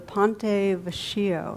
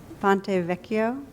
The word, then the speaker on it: Ponte Vecchio: standing near the the ponte veshio am i saying it right it's the bridge does anybody know vecchio boy i cremated that one i have a reputation for bad pronunciation ponte vecchio thank you a bridge